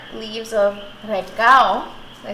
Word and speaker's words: recao: And 1 full green pepper, 4 leaves of recao.